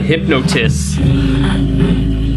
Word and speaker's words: Hypnotis: Meet Your Hypnosis? How do you pronounce that? Hypnotis.